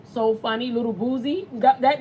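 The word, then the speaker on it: Boosie: Oh, you say it like Bootsy. No, I say Boozy. That's how you... No, it's not like that. It's Boozy.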